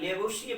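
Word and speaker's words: Lavoisier: Spelling पे थोड़ा सा ध्यान देंगे, LAVOSIER, लेवोशियर पढ़ा जाता है।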